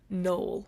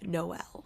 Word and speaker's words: Noel: going to be getting into is Nick and Noel's Christmas playlist by— let me tell you this right now, you guys don't crash out as I'm crashing out. I say Noel, don't say Noel.